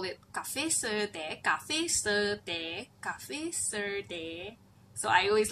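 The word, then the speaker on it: cà phê sữa: Also some one taught me you have to say the pronunciation was like cafe suada according to the spelling, but so I've been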